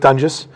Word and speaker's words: Doenges: sure uh so like you said it's Mike dungus we've uh We've joked about how the name's been mispronounced about you know 12 times over the